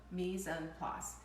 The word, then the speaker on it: mise en place: It's spelled M-I-S, then a next word E-N, and then place, the word place, pronounced place. So mise en place.